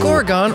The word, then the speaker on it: Gorgon: Gorgon rhymes with Oregon.